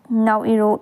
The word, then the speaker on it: Naoero: be known as the Naoeroan instead of Nauruan. Commonly known and ruled by the pronunciation of Nauru, the new name is spoken as Naoero.